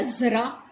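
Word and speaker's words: ज़रा: अब ज के हमने नीचे ज बिंदी नुक्ता लगा दिया तो ये क्या बन गया, जरा।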